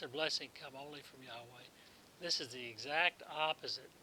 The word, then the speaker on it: Yahweh: come only from Yahweh pesky spelling again spelled like our English designate for Jehovah Hebrew says Yahweh deliverance our blessing come only from Yahweh this is the exact